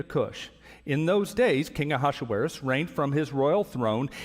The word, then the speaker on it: Ahasuerus: these events took place during the days of aashis is how you say that who ruled 127 provinces from India to Kush in those days King ahasuerus reigned from his Royal throne in the Fortress